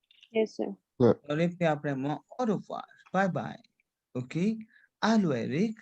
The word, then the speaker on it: au revoir: Au revoir. Au revoir. Aria? Au Au revoir? revoir. C'est clair? Oh, OK? Because clear. OI sound is wa.